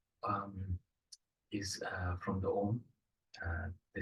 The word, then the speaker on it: Om: is uh from the OM uh the syllable and it has uh three uh three syllabus uh three sounds I would say uh are who and so the r represents